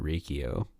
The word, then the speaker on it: Riccio: always read it as rikio uh yeah i don't know like think of cappuccino that's c-c-i-n-o yes that's true i went to someone with this last name though and he pronounced it riccio he dan riccio pronounced